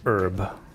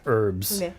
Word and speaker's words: herb: um so example like herb I it's opposite it's that's the opposite that's the opposite people in in the UK do pronounce the h in herbs herb Sage herb herb